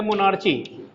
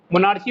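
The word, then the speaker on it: monarchy: ये मोनार्ची, कोई ची कोई की कोई इश्यू नहीं है, लेकिन ये मतलब राजतंत्र, राजा का शासन.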